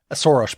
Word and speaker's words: Soros: his like biggest enemy soros by the way is the hungarian pronunciation of soros that's why i'm saying it that way not i'm not i don't haven't just like developed a lisp randomly in this conversation so so so orban